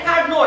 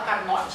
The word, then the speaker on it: Carnot: A pronúncia correta é Carnot, né? Claro que se alguém quiser falar Carnot, não tem problema nenhum. Só não fala que eu te ensinei, né?